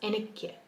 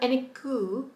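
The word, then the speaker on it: എനിക്ക്: Enikye. It's not eniku, it's enikye.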